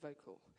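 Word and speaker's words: Vokle: this great program called vocal um using and it's spelled differently help me as yeah vocal spell v o k l e and when I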